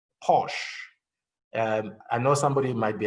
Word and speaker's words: Porsche: In fact, if you look at brands like Porsche, I know somebody might be an expert in pronunciation. They will say it's not Porsche, it's Porsche. It doesn't matter, but we know.